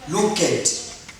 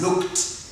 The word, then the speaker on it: looked: Don't say looked. Try to pronounce it as looked. T, looked. This D becomes T when uttering, when pronouncing this word.